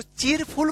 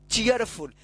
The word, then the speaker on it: cheerful: अब इसको चीरफुल पढ़ देंगे, गलत हो जाएगा। देखिए यहां पे CHEER इसको क्या पढ़ेंगे? चीयर। FUL से फुल, चीयरफुल। तो डबल ई के यदि बाद अगर आर रहता है तो ईय उच्चारण होता है, ईयर। ठीक है ना? तो आर, चीयर, चीयर। ठीक है ना? तो चीयरफुल।